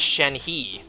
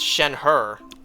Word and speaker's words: Shenhe: I thought her name was pronounced Shenhe. Until I looked it up. No, it's Shenhe, but just without the R.